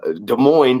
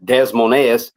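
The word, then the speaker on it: Des Moines: they put me in uh de Mo which I was saying desmon when I first did it I don't even know how to pronounce the crap why you gonna put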